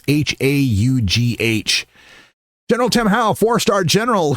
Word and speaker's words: Howe: Speaking of the troops, General Tim Howe, I hope that's how his name is pronounced. It's Haugh.